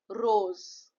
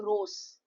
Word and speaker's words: rose: Sal then example two will give you the sound of Z. Rose, right? You are not saying rose. You are saying rose.